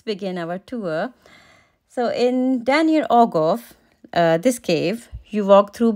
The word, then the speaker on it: Dan yr Ogof: showcase Center for Wales the name of the cave is a bit difficult to pronounce as it's in Welch so the name is Daniel ogoff the river linfeld emerges